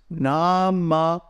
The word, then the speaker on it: Namaḥ: Okay, the short visarga takes up one beat, just like a short vowel. So it's namah.